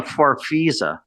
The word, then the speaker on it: Farfisa: A farfisa organ? Is that how you say it? Jimmy Destry is playing a farfisa.